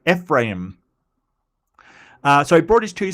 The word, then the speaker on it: Ephraim: Um, and Ephraim. God, I should have looked that one up as well. Um, Ephraim. Yes, Ephraim. Okay, I mean, need to put a bit more oomph into the im. Ephraim.